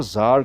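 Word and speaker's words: czar: king था past में पुराने जमाने में उसको जार कहते थे टाइटल दिया था रशियन किंग को यानी रोसी राजा जरीना जार जरीना अगर लेडी थी तो उसको बोलते थे रोसी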